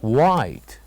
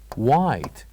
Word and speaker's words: white: here is HED so here we write H but we don't say it we don't pronounce it and then here we